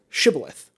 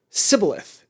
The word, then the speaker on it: shibboleth: actually from this place, say the word shibboleth. And they pronounce it sibboleth instead. And that proves that they are not from that area because they said it wrong.